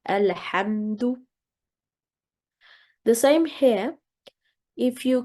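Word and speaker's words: الحمد: So we would read that as Qala alhamdu. Whereas if we need to make a pause here, for example, you would say Qala, then the alif would be read. That will be to a maftuh letter, and then in this case you would start with alhamdu.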